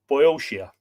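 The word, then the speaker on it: Boeotia: the grass build a city and call it boyoshia b-o-e-o-t-i-a unquote in deep perplexity he left the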